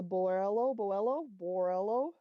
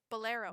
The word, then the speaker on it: bolero: It's a Borello. Oh, It's bolero. the B. Thank you. It's a B word I can never pronounce.